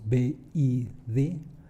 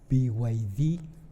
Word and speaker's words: BYD: Sí hay intenciones, hasta parece que hay un gigante de los vehículos, de los autos eléctricos, llamado BYD o BYD, si lo queremos estar pronunciando en inglés, que quiere llegar a